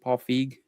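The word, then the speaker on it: Paul Feig: How do you pronounce it? Paul Fig.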